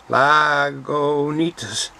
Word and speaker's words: Lagunitas: eats us to Isis at the end lago needs us so that's what they say how to pronounce it there was a lot